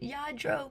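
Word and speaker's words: Lladró: say it enough that I know to say it, Yadro. But even when I was in the store, I was saying it wrong, and we were in the corner kind of giggling about it because I don't know how you get Yadro out of that double L, but I don't know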